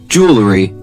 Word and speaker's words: jewelry: 难发的所以 Joseph 你来 Jewelry.